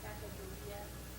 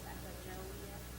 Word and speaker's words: Sacagawea: You know I mean different ways like they said Sacagawea, then Sacajawea.